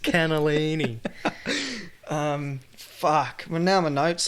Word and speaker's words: cannellini: Why is there no poodlinis in the canalio? That's poodles in a kennel. Why is there no poodlinis in the canalio? It's pronounced cannellini.